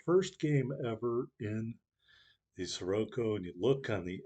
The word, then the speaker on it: Siroco: and bad things about the sirocco or siraco which i think is probably actually how you pronounce it if you watch